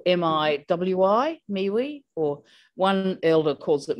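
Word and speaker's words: miwi: we have what we call a mewi it's pronounced what me we but it's spelled m-i-w-i me we or one elder calls it muy but that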